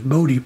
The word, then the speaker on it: Bode: And you notice it says network analyzer, and then below it says Bode plotter, or Bode plotter. Different people pronounce it different ways.